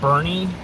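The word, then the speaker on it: Boerne: South Main Street right now I'm in a little town called Bernie uh it's spelled b-o-e-r-n-e just Northwest of San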